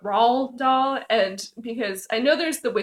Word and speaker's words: Roald Dahl: And I'm not sure on how to pronounce I want to say Ronald Dahl, but it's obviously not because there's no N. But Roald Dahl, and because I know